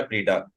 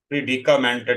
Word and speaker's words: predicament: PREDI होता है प्रीडा, लफ्ज ये मैंने गलत बोल ही गलत दिया, ये असल में ये लफ्ज था प्रीडिकामेंट।